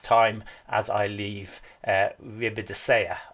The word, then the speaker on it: Ribadesella: as I leave uh riida I think I've got the pronunciation right with the Double L that time I was doing it wrong yesterday H so as we're